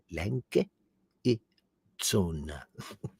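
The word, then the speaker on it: Lange & Söhne: She's like, Langa e zona.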